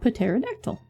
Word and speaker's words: pterodactyl: Like pterodactyl. Exactly. Like it just means that you read it. And the English language is stupid. And if no one tells you for 20 years that the P is silent and how would you ever know?